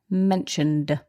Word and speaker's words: mentioned: that's right so mentioned the ed is pronounced d mentioned and it was mentioned